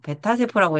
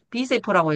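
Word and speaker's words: B세포: 조용한 청소부 대식세포 기생충을 상대하는 불의방패 오상고 신호를 울리는 오염 전략가의 방림프고 티세포 베타세포 비세포 베타세포라고 읽죠. 비세포라고 읽어요.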